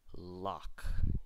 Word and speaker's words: lough: the last one ough as auch this is very uncommon Locke usually spelled with a CH Locke as in Lake Loch Ness in Scotland with the Loch Ness monster so here are all